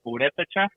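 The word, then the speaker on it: Purépecha: It's pronounced Purepecha.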